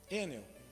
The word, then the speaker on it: Enel: Qual que é a pronúncia mesmo, William? Enel.